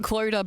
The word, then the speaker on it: Clodagh: Clodagh, but phonetic. So just like drop the GH, which, I feel like